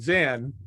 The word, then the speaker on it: Zen: So Chan was the closest they could come to dhyana, so it became Chan. And then the Japanese pronunciation is Zen, and then Son in Korean.